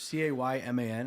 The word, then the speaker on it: Cayman: There's CAYMAN.